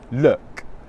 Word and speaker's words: look: English pronunciation tutorials I should keep making English pronunciation tutorials Luke look Luke look Luke look Luke look I've got